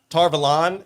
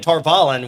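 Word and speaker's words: Tar Valon: this other episodes uh tar velon how we all pronounced it from the valley anything else uh sounds a lot more like avalon than torvalen which is what we've all been saying and i think it's supposed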